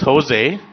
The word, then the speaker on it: Jose: He changed it to be pronounced Jose, and in fact, that was the name of his business corporation, J-O-S-E, Jose Incorporated.